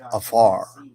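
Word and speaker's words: עפר: The Hebrew word is afar. So, it is I mean, obviously, it's not spelled it's spelled in Hebrew, but when you pronounce it, it's afar.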